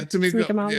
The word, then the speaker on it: Tamika Mallory: But the thing was, they criticized him because he had Tamika Mallory. Is that how you say her name? Yeah, Tamika Mallory.